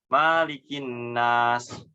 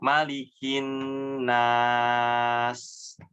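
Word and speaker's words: مَلِكِ النَّاسِ: Yang pertama, memanjangkan huruf mim. Nah, karena mungkin hampir sama dengan Al-Fatihah ya. Maliki yaumiddin. Nah, ini juga Maliki di surat An-Nas dipanjangkan maknya. Malikin nas. Umpamanya contoh seperti itu. Jadi salah ya. Maknya di sini pendek, dibaca pendek. Malikin nas.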